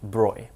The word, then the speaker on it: Broglie: His name looks like Broglie, it's pronounced Broy.